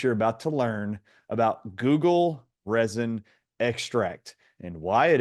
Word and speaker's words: guggul: substance actually reads and sounds just like the internet search engine all of you have come to know and love called Google Now it's not spelled